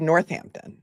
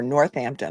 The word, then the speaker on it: Northampton: He's accused of shooting and killing a 27-year-old Johnathan Letendre of Northampton or Northampton. I know you guys don't like to pronounce the H's there, so you can tell me if I'm pronouncing it wrong.